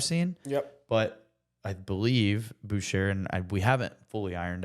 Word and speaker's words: Bucherer: recently in 2018 by Boucher or butcher I think it's Boucher I think it's like